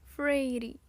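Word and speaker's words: Feyre: Elaine pronunciou as 2 sílabas de meu nome. Frady.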